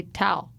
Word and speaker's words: towel: says that word weird but tell us one syllable no you say towel towel you keep saying towel towel towel well